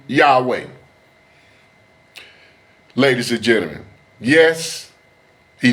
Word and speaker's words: Yahweh: all almost 99% of them embrace the name Yahweh. Even the Jewish historian, Josephus, ladies and gentlemen, the Jewish historian, Josephus pronounced his name Yahweh.